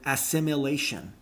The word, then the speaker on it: assimilation: if it's coincidentally you there is no you in the word assimilation assimilation assimilation not it's not an